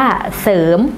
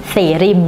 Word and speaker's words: เสริม: เสริม คิด เท่า ไหร่ คำ ว่า เสริม ไม่ ใช่ เสริน นะ คะ เสริน ต้อง อ่าน ว่า เสริม นะ คะ อ่า ศร